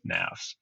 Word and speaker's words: Knafs: It rhymes with laughs, rhymes with graphs, nafs.